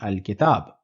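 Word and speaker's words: الأب: pronouncing it alab meaning I will be pronouncing the L in the because the alphabet that follows the lamb which is is included in or it is included in the list of or Moon letters so the final pronunciation will be alab now what if I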